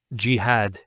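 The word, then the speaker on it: جهاد: Next word is jihad. So we have here ji, that's the first syllable, and then had, jihad. So you notice here we have a fatha on the ha, followed by the alif, and that gives the elongation of the A sound.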